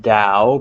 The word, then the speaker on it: Dao: um it's it's spelled Dao pronounced Dao but you'll also see it written with a t so I'll bring up